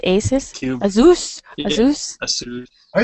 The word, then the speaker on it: Asus: Asus.